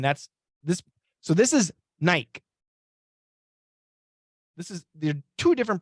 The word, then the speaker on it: Nike: crazy kind of crazy so Nike we say Nike and Nike so Nike long I but we also say Nike uh and now when